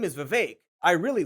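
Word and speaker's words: Vivek: an accurate description of the vake it rhymes with cake ramaswami who occasionally goes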